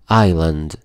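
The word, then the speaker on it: island: كور ريف شعاب مرجانيه ايان ايان حرف الاس هنا سايلنت ما بيتنطق يعني جزيره ستري ستري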